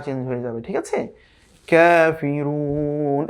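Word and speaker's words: كافرون: কাফিরুন, এখানে কিন্তু আবার ছোট কাফ এসেছে, এই যে সিম্পল কাফ যেটা সেটা এসেছে, কাফিরুন।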